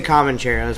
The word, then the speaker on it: Comancheros: Am I pronouncing that right? Yeah, we always say Comancheros, but yeah, you can say it however you want, man.